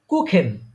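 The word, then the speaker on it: Kuchen: আছে ওইটা দেখায় দিব আপাতত এটা মনে রাখেন যে সেহা থাকলে কিসের মত উচ্চারণ হবে খ যেমন খ কুখেন কু কুখেন হ্যাঁ কুখেন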